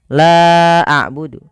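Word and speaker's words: لَا أَعْبُدُ: Contoh, la a'budu. La a'budu, la awalnya 2 harokat bertemu dengan hamzah pada lain kata. Maka la-nya dipanjangkan sepanjang 4 atau 5 harokat.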